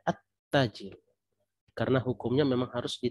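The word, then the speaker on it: التاجر: lamnya terbaca di sini lamnya tidak terbaca tetapi harus diingat tetapi kita langsung memasukkan suara itu ke seolah-olah huruf setelahnya itu ada tasydid ya jadi begini ya walaupun tidak ditulis ya tasdid tidak ditulis tetap kita baca at-tajir karena hukumnya memang harus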